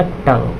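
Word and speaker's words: tongue: यहाँ पे देखिए यहाँ पे आपका U जो है आपका ये साइलेंट हो जाएगा, तो क्या हो जाएगा ये हो जाएगा टंग, क्या हो जाएगा टंग।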